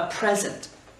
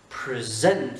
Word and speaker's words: present: Ensuite, a present. A present. Accent tonique sur la première syllabe et pas present. Si on fait present, c'est un verbe.